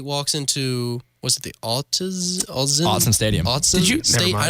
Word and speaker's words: Autzen: You think Washington State walks into, was it the Autzen Stadium.